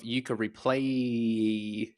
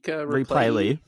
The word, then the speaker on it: Yooka-Replaylee: Your review of Yooka-Replay. James, am I pronouncing that correctly? Replaylee. Yooka-Replaylee? Replaylee. Replaylee. I'm missing the L.